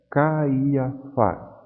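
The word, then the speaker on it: Καϊάφας: Veja a palavra Caiafás. Essas duas vogais, A e I, em princípio formariam um ditongo, mas o trema colocado sobre o iota desfaz esse ditongo.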